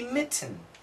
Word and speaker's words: mitten: The proper pronunciation would be mitten. But nobody says mitten. We usually say mitten mitten. So you'll notice tn tn tn tn tn tn. Especially TN relationships, we have a glottle stop sound.